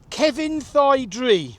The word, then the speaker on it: Cefnllaethdre: This is how we was told to say it. Kevin. Like the man named Kevin. Kevin. Thigh, like a chicken thigh. Thigh. And then Dree. Cefnllaethdre.